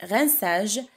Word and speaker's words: rinçage: Le rinçage, on a ajouté une CD au C, parce que le C plus un A, on l'appelle K. On le prononce K. On ajoute la CD pour le prononcer SE.